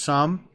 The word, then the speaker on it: XUMM: Now, I'm not going to run you through all of them, but they are talking about the Sum app, XUMM, I believe it's pronounced Sum.